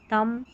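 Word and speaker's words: thumb: उच्चारण ब होता है, नहीं, बी यहाँ पर साइलेंट है, एम और बी में बी साइलेंट है, सिर्फ एम का ही उच्चारण हो रहा है, वो भी म। तो लैम, बॉम, थम, कॉम, तो यहाँ पर बी को भूल जाए, बी का उच्चारण नहीं करना है।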